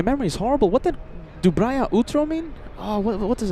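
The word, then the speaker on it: доброе утро: Kevin, our executive producer, says, "Peter, that was almost perfect pronunciation." Dubria utro.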